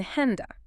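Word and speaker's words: Hände: In henda, hands. Now, you will hear many Germans pronounce it more like an E.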